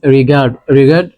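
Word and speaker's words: regard: এম এনভার ম্যান ইজ রিগারড রিগারড না রিগারড রিগারড আরকে pronounce করবো না যদি আর এর পরে কনসোনেন্ট থাকে আর রিমেনস সাইলেন্ট ইফ কসন্টার ফোকাস কর রিগারড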